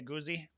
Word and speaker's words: Aguzzi: with some special guests Professor Muhammed and auzi am I pronouncing that correctly auzi yeah that's correct okay all right and um